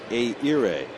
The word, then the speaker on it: Ehire: I think I got a little too much H in there. Say it again. It should be Ehire.